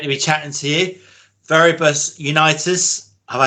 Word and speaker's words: Viribus Unitis: Depending. Like if you go with the English pronunciation, would probably be this. In the German way, we say Viribus Unitis, so that's kind of where we come from.